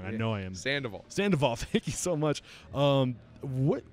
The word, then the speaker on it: Sandoval: And what ways did Chef Richard Sandoval, I'm saying his name wrong, yeah. I know I am. Sandoval, thank you so much.